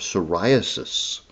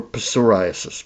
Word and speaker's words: psoriasis: it has been used in the treatment of psoriasis, which also starts with a P. Psoralen for psoriasis.